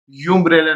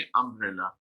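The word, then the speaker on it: umbrella: इसके प्रोनाउंसिएशन यूँ बोली जाएगी अम्ब्रेला। यूम्ब्रेला नहीं पढ़ेंगे, हम पढ़ेंगे अम्ब्रेला।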